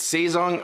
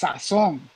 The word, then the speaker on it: Sazon: Is it Saison or Sazon? It's Sazon. Sazon. Oh, he wants me to say it the Dominican way, son.